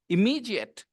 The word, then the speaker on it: immediate: You can pronounce this D as well, and you can pronounce it J as well. Depends on you.